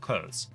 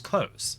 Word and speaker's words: clothes: for like 400 years the correct way to pronounce clothes is close and it's that is the way it's been for a long time so because I'm wrong